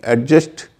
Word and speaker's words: adjust: और इसमें सबसे पॉपुलर शब्द है जिसको एडजस्ट कहते हैं, ADJUST। इसको याद रखिए कि एडजस्ट नहीं बोलना है, एडजस्ट बोलना है।